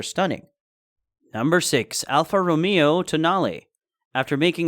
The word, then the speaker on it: Tonale: the concept car which is named after an Italian mountain pass and is not pronounced toenail on display at the